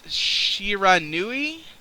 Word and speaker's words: Shiranui: bread number two do you know how to pronounce that Rob what is it it's Shiranui it's the actual name for sliced bread now I think it's just Shiranui yeah sure okay I wasn't sure yeah I